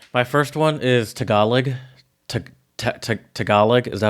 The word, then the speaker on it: Tagalog: Tagalog, is that how you say it? Tagalog, yeah.